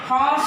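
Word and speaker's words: horse: बेटा इसका pronunciation our होता है और इसका प्रोनाउंसिएशन हॉर्स होता है जो कि एच में आ रहा है, इसलिए हम यहाँ पर ए लगाएंगे।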